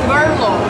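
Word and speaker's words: BRLO: Can you tell me please, how is your brand's name pronounced? It's Brillo. Brillo. Yeah. Bye. Berlo.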